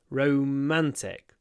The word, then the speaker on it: romantic: this word romance romantic romantic in romantic I do more or less the same a double stress romance romantic o a